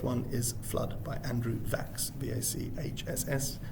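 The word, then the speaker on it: Vachss: the very first one is flood by andrew vaxx v-a-c-h-s-s pronounced a rhyme with tax andrew and coming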